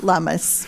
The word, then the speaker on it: Lummis: Yes, Lummis. Rhymes with hummus.